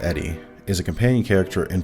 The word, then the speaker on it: ED-E: very far from wrong ed- e pronounced Eddie is a companion character